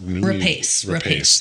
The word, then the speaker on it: Rapace: Rapace.